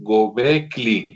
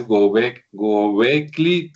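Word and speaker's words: Göbekli: mal, parece que es Gobecli, o sea, la L es después de la K, entonces parece que es Gobecli Tepe, ¿verdad?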